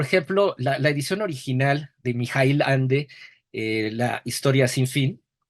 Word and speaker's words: Michael: hombre, pues, me corrigieron no es Michael Ende o Mike, es Mijail, dije, pues, Mijail es como ruso, no, pero así lo pronuncian en Alemania, y bueno, pues el